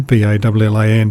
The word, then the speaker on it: Ballan: This clip will actually make it to Daylesford and then beyond, heading towards the town of Ballan, B-A-L-L-A-N. Ballan is how the Victorians pronounce it.